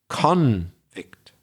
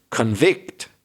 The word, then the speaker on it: convict: where the stress is it depends if it's a noun or a verb so a person who was found guilty by the judge is a conict the stress the emphasis on the first syllable so that means that the judge has decided to convict that person convict stress on the second syllable is the verb and sometimes that gets